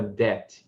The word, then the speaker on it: debt: Então, repare que eles têm esse B aqui. Então, para que o inglês tivesse uma forma visual, essas duas palavras do inglês tivessem uma forma visual mais próxima do original latino, eles inseriram esse B, que é mudo, certo?